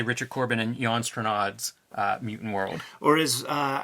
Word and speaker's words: Strnad: richard corbin and jon stranad's mutant world or is uh i used to pronounce when i was a little kid jan strand yes before we dive